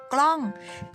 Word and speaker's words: กล้อง: ๆ เลย น้อง หนู คำ นี้ อ่าน ว่า กล้อง เฮีย มาก ๆ เลย